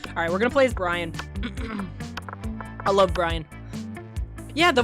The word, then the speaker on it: Brian: Yeah, but it's spelled Brian. B-R-I-A-N. Brian. I've called him Brain as well before, though. Because look at him. He's a zombie. It's supposed to be a pun.